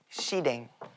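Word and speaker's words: สีแดง: 근데 그게 뭔가 순간적으로 헷갈려서 내가 태국어로 나와버리는 일이 있었는데 빨간색이 발음이 시댕. 너 너무 준혁이 형 얼굴 보면서 하는 거 아니야? 나한테 감정이 있었어. JYP 보내야지. JYP 뱀. 시댕? 시댕이 빨간색.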